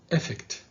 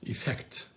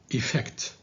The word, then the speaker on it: effect: social and this word don't say effect because it's effect the stress is on the second syllable on the f so say effect okay social media is